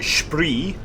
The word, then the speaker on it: Spree: Yes, over the Spree, or if you're native to the country, the Spree. Fantastic pronunciation. I not mine. Just how the Germans pronounce that word.